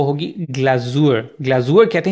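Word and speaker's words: Glasur: चाहिए होगी, जो लास्ट चीज़ है वो होगी ग्लाजूर, ग्लाजूर कहते हैं ग्लेज को, जब भी आप केक बना लेते हैं तो केक के ऊपर आप ग्लेजिंग या आइसिंग करते हैं तो उसको जर्मन में कहते हैं ग्लाजूर, तो वो ग्लाजूर मुख्तलिफ फ्लेवर्स के आप लोग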